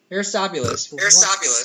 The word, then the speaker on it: Aristobulus: era how do you say that word down aristobulus aristobulus yeah all right 150 BCE claims Solomon is